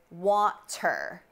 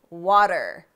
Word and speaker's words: water: butter right americans say water waiter and butter head scratcher right okay well we don't pronounce the t instead we say these words with a d sound in a few scenarios